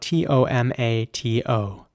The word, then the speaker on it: tomato: The next word is spelled T-O-M-A-T-O. And in British English, it would be tomato with an R sound and quite a strong T at the end, tomato.